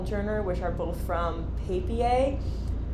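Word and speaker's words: Papier: which are both from paper I think that's how you pronounce it it's p-a-p-i-e-r and I believe it's a German word paper they make these really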